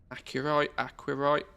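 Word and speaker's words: Aqirite: Aquarite. It's a, I think it's the Q's pronounced as a C. It's aquarite.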